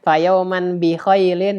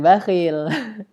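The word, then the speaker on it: فَيَوْمًا بِخَيْلٍ: Nah, ini bacanya fayauman bi khailin ya. Jangan bakhil.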